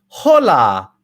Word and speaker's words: hola: why i didn't say hola hola and you said what the the ace or the h is silent in spanish it's a silent letter so we never pronounce it okay everybody pronto hasta